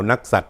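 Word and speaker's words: นักษัตร: นัก สัตว์ อ่าน ว่า ดาว นัก สัตว์ นะ ครับ หมู่ ใด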